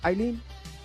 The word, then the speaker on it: Eileen: I Eileen, am I pronouncing your name right? Eileen. Recon is 100% uh 100% correct. Okay, correct.